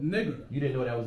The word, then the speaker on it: Niger: Niger. They pronounce it, say it. Niger. Niger. Because it's a little spinoff with the French, so it's a little twist.